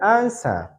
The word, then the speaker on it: answer: W is not pronounced in the word answer. W is not pronounced in the word answer.